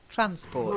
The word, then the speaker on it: transport: It's just transport. The stress is on the first syllable.